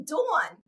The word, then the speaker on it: Dawn: But how do you say her name? It's really Dawn.